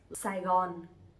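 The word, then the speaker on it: Sài Gòn: to speak differently, but we all pronounce them Saigon.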